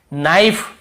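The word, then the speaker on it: knife: नाइफ, यहां पर भी के को नहीं पढ़ेंगे।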